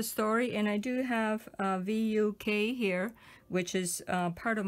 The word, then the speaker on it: Vuk: And so you pronounce it as V-O-O-K, like Vuk. Vuk.